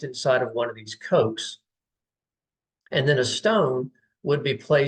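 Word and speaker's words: kokh: Once that preparation was complete, then the body would be placed into one of these slots, which were K-O-K-H, pronounced Coke.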